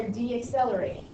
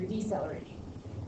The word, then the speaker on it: decelerating: Now, you are still moving forward, but you are deaccelerating, or you're decelerating. Sorry, put an extra syllable in there, okay?